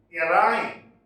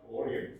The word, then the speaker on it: Orion: The next one in our list is Orion. It is not Orion, it is pronounced Orion.